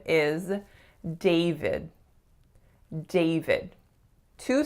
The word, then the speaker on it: David: So a lot of my clients see the letter A, so they tend to make more of a sound. And for the second syllable, they see the letter I, but it is in fact a schwa. So it's not David, it's David. David.